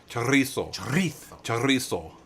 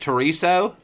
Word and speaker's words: chorizo: chorizo or treason no how do you say that with the aria roll the r charrisso but over there it's the the z is the the th sound you got to tell